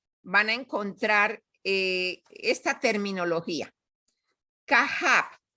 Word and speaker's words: Kahab: Cuando encuentran Kahab, que se escribe K-A-J-A-B larga, quiere decir que está compuesto por Keter, Jogma y Binah. Entonces, la terminología es Kahab. pero quiere decir Keter, o sea, la K para Keter, la T, la J para Jogma y la B para Binah. Y se pronuncia Kahab.